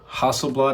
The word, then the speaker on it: Hasselblad: So we're greeted with 11 right up here, OnePlus X Hasselblad, or Hasselblad, I believe is the correct pronunciation, Hasselblad.